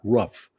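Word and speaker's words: Rupff: He pronounced it Scott Ruff, but it was spelled R-U-P-F-F. And I could never figure out if it was the first F or the second F that was silent.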